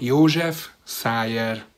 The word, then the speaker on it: József Szájer: Making sure that everyone would get the correct news, Hungarian journalist Sándor Siros gave a quick tutorial in how to pronounce his name. József Szájer.